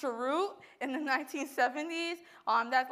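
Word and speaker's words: chroot: started off with um I think it's pronounced charu in the 1970s um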